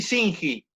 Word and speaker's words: Shinji: ¿Se pronuncia bien así, Singi? Sí, perfecto.